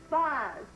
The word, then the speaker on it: vase: Vase. Vase? Vase is the proper way to pronounce it.